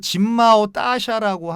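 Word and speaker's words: 金茂大厦: 중국 발음으로는 그 진마오 따샤라고 하는데요.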